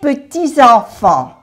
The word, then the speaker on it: petits-enfants: Enfant, no se pronuncia la S de plural. Mes petits-enfants, aquí se hace la unión.